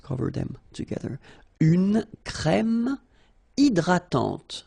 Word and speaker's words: hydratante: Une crème hydratante. So remember, H is not existing, and then this Y is pronounced like I. Hydratante. Okay, don't insist on the final E, and this is nasal. Hydratante.